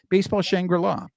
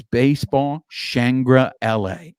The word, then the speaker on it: Baseball ShangriLA: people may look at our show and go basball shangra law no it is not baseball shangra law the name of our show is baseball shangra La that is how it's pronounced baseball shangra La